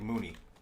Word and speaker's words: Muni: I read it like Mooney. When it's a Bangladeshi given name, like it's MUNI is a pretty common Eastern Indian and Bangladeshi given name. That's how it's supposed to be pronounced, but that's not where I got it from, so that's not how I pronounce it.